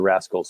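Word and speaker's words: Wraskles: they can do with the rascals spelled with a w um so you might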